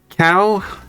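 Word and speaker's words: Kao: Cow the Kangaroo is a Polish franchise and his name has been cow since forever. Well, like is is Polish name is cow. That's how they say it.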